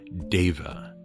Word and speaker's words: deva: all note our particular pronunciation of the name deva pronunciations in d and d are always tricky you